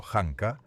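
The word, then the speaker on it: Janka: La prueba Yanka, pronunciado hankaa, mide cuánta fuerza se requiere para incrustar una bola de acero a la mitad en un trozo de madera.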